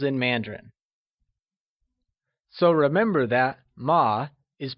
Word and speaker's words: 吗: So remember that ma is pronounced using a neutral tone, which carries a soft falling sound, as if the sound is fading away.